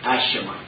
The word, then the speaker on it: AESHMA: We're using as a subject today, and I'm going to spell this word, it's A-E-S-H-M-A, AESHMA. There are different pronunciations, but let's go with AESHMA.